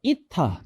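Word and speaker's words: η: 자, 그리고 자, 얘가 이타 또는 에타라고 읽으시면 되고요.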